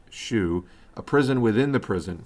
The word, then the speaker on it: SHU: In particular, the cowboys ran roughshod over the Special Housing Unit, or SHU, pronounced SHU, a prison within the prison for inmates with disciplinary problems.